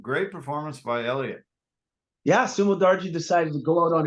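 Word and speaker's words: Sumudaerji: Sumo Darji. Sumo Darji.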